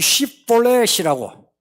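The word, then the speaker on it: שיבולת: 이 발음이 무슨 차이인지 아시죠? 이거는 S 발음, 이거는 이 SH 발음이에요.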